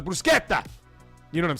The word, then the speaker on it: bruschetta: it doesn't sound it just sounds like white people saying bruschetta when they go to a restaurant you I'll have the bruschetta. It's a brusqueta.